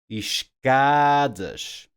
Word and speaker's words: escadas: So words with no accent marks first. By default, these words are stressed on the next to last syllable.